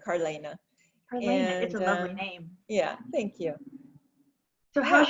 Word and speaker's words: Carlaina: i apologize right yeah my name is carleana elena so you want to put those two um vowels together carlaina yeah thank you so